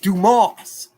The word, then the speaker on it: Dumas: That's pronounced Dumas. Quit saying it like that.